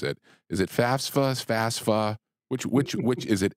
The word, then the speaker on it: FAFSA: bent out of shape about yes it's technically pronounced FAFSA but why don't we just call it FAS